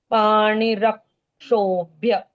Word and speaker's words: पाणिरक्षोभ्य: क्ष जब भी आएगा उसके पहले अक्षर के बाद आधे क का उच्चारण आना ही होता है। पाणिरक्षोभ्य, ऐसे उच्चारण आएगा यहाँ पर।